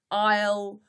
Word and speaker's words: isle: is isle a i s l e is pronounced i'll or l um the representatives with the most